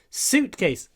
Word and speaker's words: suitcase: Ударение на первом. Suitcase. Не suit. Не говорите suit. Многим нравится вот это с говорить. Не надо. Просто длинный с. И у. Сокращенный перед ц. Suit. Suitcase. Suitcase.